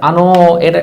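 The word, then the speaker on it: あのう: এবার আনো, এটা টান হবে, দেখেন এখানে একটা উ আছে। হ্যাঁ, এই উর উচ্চারণটা হয় না, এটা হচ্ছে আনো, জাপানিজরা একটু টেনে বলে, আনো এভাবে বলে।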